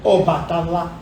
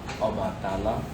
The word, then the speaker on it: Obàtálá: Obatala ou Obatala? Obatala, Depende da região. que pronuncia a palavra. Ok. Em Oderemó nós falamos Obatala. Em Leifé se fala Obatala.